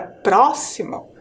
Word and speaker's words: próximo: próximo então percebam lá ao falar a palavra próximo a sílaba mais forte é a sílaba pro e ela está ali na antepenúltima sílaba percebo ali em vermelhinho